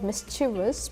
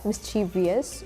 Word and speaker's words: mischievous: I think for me it was mischievous because it's like from French, so it was like whether to add an I or not add an I, mischievous or mischievous.